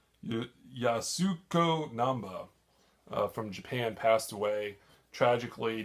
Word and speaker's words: Yasuko Namba: and passed away and then Yuma I know pronouncing this wrong Yoshiko numba you Yasuko Namba from Japan passed away tragically not more than